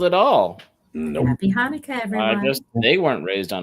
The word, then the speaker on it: Hanukkah: Happy Shuckanuck or hey, something. I don't know. Nothing personal. I love you. That's Hanukkah. That's not phonetically. It's spelled at all. Nope. Happy Hanukkah, everyone.